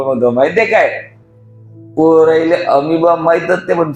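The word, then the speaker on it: amoeba: बा सांगा बरं बाबा अमीबा बॉ नाही बा नाहीतर माणसा अमीबा अमीबा ओके वाचन करत असताना खूप साऱ्या मुलांचा अजून एक प्रॉब्लेम होतो माहिती आहे काय पोराले अमीबा माहीतच नाही पण स्पेलिंग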